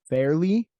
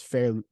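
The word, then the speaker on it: Fairleigh: do we say this is it barely no no it's fairly Fair lay Dickinson or Lehigh fairly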